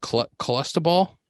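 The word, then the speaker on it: Clostebol: can't say the word cholesta ball yeah it's like cholesterol i think you said it right okay in his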